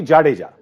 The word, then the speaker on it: Jadeja: No, but for overseas commentators, Jadeja is the most difficult word to pronounce. But it's actually Jadeja.